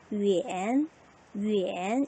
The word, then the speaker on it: 远: 똑같이 위엔이라고 읽어야겠네요. 제3성이니까 위엔, 위엔 이렇게 되겠다.